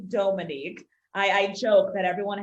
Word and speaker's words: Dhomonique: your name yeah so my name uh is pronounced dominique a lot of folks say dominique but it's actually dominique i i joke that